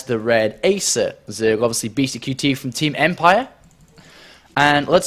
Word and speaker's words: BeastyQT: So if you spell that out, it's Beasty, then C-U-T-E-Y. BeastyQT for anybody that doesn't know.